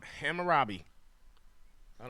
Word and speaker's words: Hammurabi: Hammurabi. I don't know.